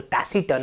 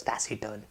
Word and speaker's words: taciturn: talk about is taciturn the tassie turn up see here tacky turn a bulldozer it is pronounced as taciturn right the taciturn jasmine